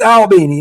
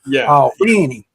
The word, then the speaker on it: Albany: It's Albini. They not all Benny like we have in New York. It's all Benny.